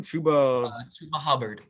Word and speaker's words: Chuba Hubbard: Chuba Hubbard.